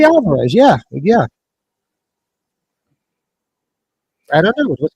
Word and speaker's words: Fede Alvarez: Is that how you pronounce his first name? Fede Alvarez, yeah.